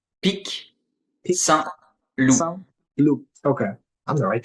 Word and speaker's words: Pic Saint-Loup: Like, how do you pronounce the wine again? What is it called? Pic Saint-Loup.